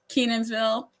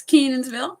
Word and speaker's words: Kenansville: If you say Kenansville, we're like, oh, you're not from here. It's Kenansville because we just blend the whole first part together and Ville.